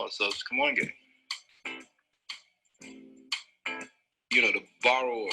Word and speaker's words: Kamoinge: how do you pronounce Kamoinge? So different artists actually have slightly different pronunciations of it, but I use Louis Draper's pronunciation from this video.